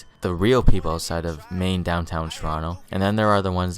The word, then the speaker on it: Toronto: If they pronounce the T they ain’t from here fr.